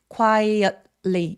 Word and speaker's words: quietly: 혹은 Tly로 끝나는 소리들은 T신에 숨을 참아 버리는 또 미국인들 습관이 있어요. 그래서 quietly quietly 이런 식으로 숨을 순간적으로 참았다가 바로 L로가 주세요. he quietly took one of there.